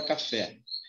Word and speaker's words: café: O fé é a sílaba mais forte da palavra café. Então, se a última, ó, primeira e última, se a última é mais forte, eu tenho uma palavra dita oxítona.